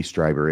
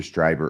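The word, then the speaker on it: Strieber: you know who Whitley striber is no I think I'm pronouncing it correctly it's either striber or streber but I think it's striber uh he's an author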